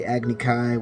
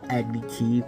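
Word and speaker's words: Agni Kai: are also pronounced wrong specifically agnikai which they pronounced it agniki what the [ __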